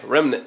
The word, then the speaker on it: remnant: I'm from the South, and in one of my sermons I said remnant. I just like to add extra syllables. We do that down here. But I'm going to say it right this time.